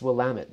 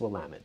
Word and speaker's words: Willamette: It's Willamette, damn it. So there you go. Is that a moniker? I hope I'm using the right word. It's Willamette, damn it.